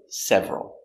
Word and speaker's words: several: 5 to S pronunciation we don't say several push them together several there are several people